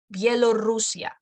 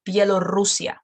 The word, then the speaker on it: Bielorrusia: Bielorrusia. Well, there are two of them actually. Two diphthongs here. Bielorrusia. Quick.